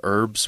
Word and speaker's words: herbs: and you'll notice here we don't really pronounce the h in herbs we just kind of say herbs unless you're from Great Britain they say herbs they do say they say herbs it drives me nuts